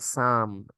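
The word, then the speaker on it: psalm: We call it साम, एंड P silent here, P silent है।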